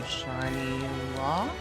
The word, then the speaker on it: Shinylocke: The Shinylocke. I think there's supposed to be an E, a silent E at the end. that right? Because English.